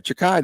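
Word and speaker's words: Xhekaj: Jeka. No, I went on there. Chakai, they said. I went on pronunciations.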